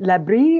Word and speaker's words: LaBRI: Can you mention a little bit more about the facilities, and especially is it Labri or L-A-B-R-I? I'm not sure how you pronounce that.